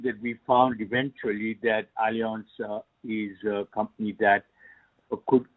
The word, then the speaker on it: Allianz: The pronunciation is Allianz, and it ends with a Z. Right. Okay, so it's Allianz, and it's a German